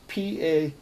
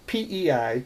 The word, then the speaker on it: Pe: is the letter pet some people say and write it PA Pei or say it like pay I learned it Pat okay so what we've